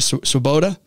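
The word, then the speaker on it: Swoboda: had a new leadership coming Gina am I pronouncing right swaboda yes Gina swaboda is an incredible leader in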